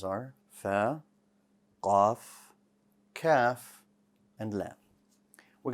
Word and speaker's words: ف: also has air so when you pronounce it allow a little bit of the air to come out f if you hold